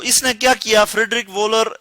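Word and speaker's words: Wöhler: इसने क्या किया फ्रेडरिक वोलर इसको हम प्रोनाउंस कर सकते हैं फ्रेडरिक वोलर और इसने यह किया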